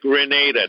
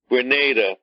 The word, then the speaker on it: Grenada: Number three, the slogan from the Maurice Bishop New Jewel movement in Grenada. Pronounced Grenada, not Granada. Granada is a place near Spain, near the Gibraltar area. That's not what we're talking about. Grenada.